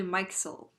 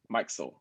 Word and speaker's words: Mikesell: Mikesell. Mikesell.